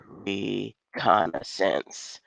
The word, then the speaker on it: reconnaissance: This is the instant replay, the reconstruction, wait, let me not mispronounce. Let me say it right. Reconnaissance.